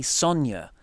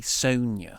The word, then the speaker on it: Sonya: Deville and or Sonya so I say Sonya yeah but I feel like the Americans say Sonia oh I don't know